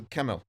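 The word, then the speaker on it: Kemell: This whole time, since he was drafted, I thought the dude was Swedish, so I've been pronouncing it Schemmel, which is the Swedish pronunciation, but he's Finnish. So it is Kemel.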